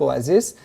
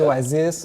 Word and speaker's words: Oasis: Bon, moi, je l'ai dit à la française, Oasis, mais on prononce plutôt Oasis.